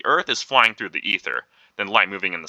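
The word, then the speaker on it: aether: they call this medium The Ether the a is silent and Michaelson and Morley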